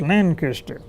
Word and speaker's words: Lancaster: I pronounced that the long way. One old lady got me with a shirt sleeve on there and said, "It's Lancaster." Well, okay. Her father happened to be from Lancaster County, Pennsylvania. I'm sorry, Lancaster County, Virginia. And she said I pronounced it too slow.